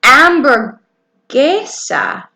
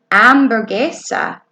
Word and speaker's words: hamburguesa: see Caleb and then amber geisha amber geisha yes Heather see out load on your house guys say amber geisha and we don't pronounce the H that's silent amber geisha hmm who likes hamburgers